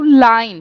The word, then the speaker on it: lein: Só que, atenção, a gente também tem outra palavrinha que a gente pode colocar no final para fazer diminutivos, que é o line. Se escreve L-E-I-N, tá?